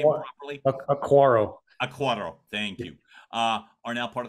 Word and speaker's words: Acquaro: DiCicco, Emilio DiCicco, and Acquaro, am I pronouncing her name properly? Acquaro, thank you.